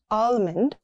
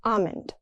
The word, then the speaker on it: almond: The L disappears, not almond. It's almond.